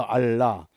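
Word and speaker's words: אָלָה: 알라신 그러죠. 그 발음이 같아요. 알라.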